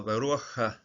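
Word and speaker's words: רוח: But here, this particular syllable begins with a pata, so it's called a pata furtifa. The hiding or the sneaky, the sneaky pata. Okay? So Baruch, the spirit.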